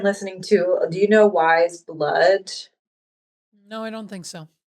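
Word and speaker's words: Weyes Blood: I mean, I've been listening to, do you know Wise Blood? No, I don't think so. It's spelled Weyes and then Okay. Blood.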